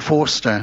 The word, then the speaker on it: Forster: Pronounced Robert Forrester. Robert Forster. Forster. We pronounced it wrong, remember?